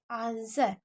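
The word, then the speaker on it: answer: करिए वही this आंसर देखिए आना सर क्योंकि डब्लू यहां पर साइलेंट होता है तो आंसर में ब्लू को नहीं पढ़ा जाता इसलिए आंसर होता आंसर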